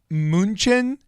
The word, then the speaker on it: Mnuchin: Or is it just Mnuchin? Some people say Munchin.